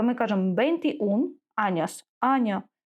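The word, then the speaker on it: veintiún: далі бе ун аніш дивимось тут наголос на у тому що ми пам'ятаємо що якщо ене ми переходимо на один склад назад і буде наголос туди і якщо ми не поставимо тут наголос буде читатись неправильно то ми кажемо бенти ун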